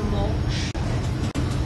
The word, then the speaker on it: moksha: This is the word that is pronounced "moksha."